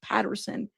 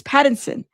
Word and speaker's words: Pattinson: It's Patterson, but it's Pattinson.